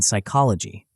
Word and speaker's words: psychology: in some dialects, and the P in psychology.